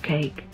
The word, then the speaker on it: KAEC: abdullah economic city or koec pronounced cake will be slightly larger